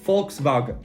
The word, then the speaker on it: Volkswagen: volkswagen is actually pronounced volkswagen now this one you probably already knew because volkswagen make a lot of tv commercials volkswagen das auto it is volkswagen with an f volkswagen wagon i'm no